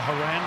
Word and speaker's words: Horan: a free kick and i will call a haran second half not horror in the english pronunciation sam kerr brought down